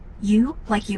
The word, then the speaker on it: usually: You like you with a hard O. Zoo like vision with no V and an O.